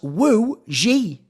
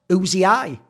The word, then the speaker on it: ZywOo: goes by the way uzii is pronounced as woi not uzii right let me just